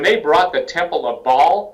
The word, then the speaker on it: Baal: English pronounces it Baal, I believe. And that's yeah. Hebrew doesn't matter. Baal is how you would say it in Hebrew, but that doesn't matter.